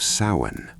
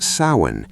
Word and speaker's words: Samhain: most powerful expression is the ancient festival of Samhain. Pronounced Samhain, Samhain was celebrated around November 1st.